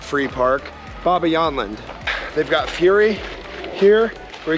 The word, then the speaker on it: Bobbejaanland: the front entrance of Baba yland yes that is how you say it it took me a while to figure that out I didn't know how